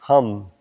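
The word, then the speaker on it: हं: And look inside and we'll chant the mantra Ham, H-A-M with a dot.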